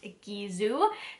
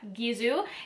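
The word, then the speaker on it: Gisou: work so it is supposed to be pronounced gizu in case you're wondering kind of like bizu and french which means kisses um so yeah gizu and it is actually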